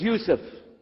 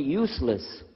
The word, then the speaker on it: Yusuf: work on it shaolong my name is Yusuf he said Yusuf me said you soon very good I wish you teach my wife she keeps mispronouncing it she calls me useless haha home delivered now